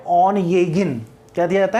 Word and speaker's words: Onegin: उसने जो सोनेट्स लिखे वो थे ऑन येगिन, इसका प्रोनाउंसिएशन ध्यान रखना है, ONEGIN, ऑन येगिन सोनेट्स।